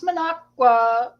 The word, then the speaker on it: Minocqua: one oh yeah we did this okay I pronounce Minocqua correctly yay I don't like d with a